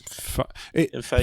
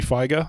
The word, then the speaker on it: Feige: His name is Feige. Phonetically, it looks like it should be Feiger, but it's not.